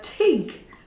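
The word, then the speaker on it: tyg: that this is a TIG mug T YG pronounced TIG and this is an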